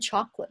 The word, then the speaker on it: chocolate: it's kind of hard and chocolate of course I mean the spelling looks like three syllables but many people say two syllables so yeah confusing so